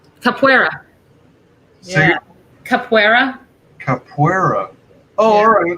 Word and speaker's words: Capoeira: Now I keep forgetting how to pronounce this. Capoeira. Capoeira.